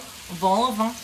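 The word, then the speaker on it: vol-au-vent: So this L gets pronounced in French, but this T does not.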